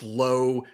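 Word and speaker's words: Lowe: So, when I do the recap and I put it in there, I put low in parenthesis for Josh Low and then I put now for Brandon Laauo because it rhymes with now.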